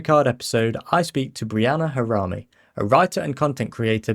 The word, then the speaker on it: Breanna Harami: it it really is just pronounced how it's spelled.